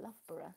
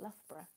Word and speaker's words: Loughborough: But you see, I pronounce it Loughborough, not Loughborough. Loughborough. Like a borough.